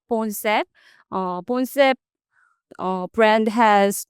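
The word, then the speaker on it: Boncept: M our new brand name is Bones. How do you spell that? Uh B O N C E P T. Bones.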